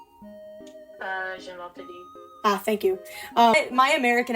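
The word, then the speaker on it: Gymnopédie: we all think of, like, how do you pronounce it? Gymnopede? Gymnopede. Ah, thank you. My American ass is just like, the Gymnopades.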